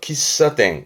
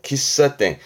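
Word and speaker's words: 喫茶店: 발음은 아시겠나요? 그렇죠. 기사땡. 기사땡.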